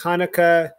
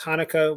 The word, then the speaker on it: Hanukkah: some people don't pronounce hanukkah with the head some people pronounce hanukkah with an h sound which in hebrew and